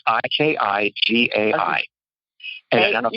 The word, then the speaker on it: Ikigai: called Ikigai, and it's Ikigai. And I don't know if you've ever seen Ikijei? It's Ikigai. And it's a Japanese term. Ikigai is how you say it.